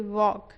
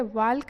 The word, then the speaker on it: walk: क्या लिखा हुआ है, WALK, वॉक मीन्स इसको क्या पढ़ेंगे, वाल्क नहीं पढ़ेंगे, इसको पढ़ेंगे वॉक। ठीक है। वॉक मीन्स चलना, जहाँ पे एल क्या है, साइलेंट रहता है, ठीक है।